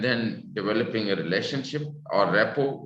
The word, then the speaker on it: rapport: First of all, providing structure, what we will do, and then developing a relationship or rapport. Rapport is R-A-P-P-O-R-T. T is silent.